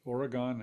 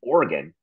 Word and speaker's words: Oregon: It is Oregon, and that is how you say it. It is not Oregon.